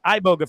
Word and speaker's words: Iboga: And I always wanted to call it Iboga for some reason, but it's Iboga, right? Am I saying it right? You call No, Iboga is fine. Iboga is good.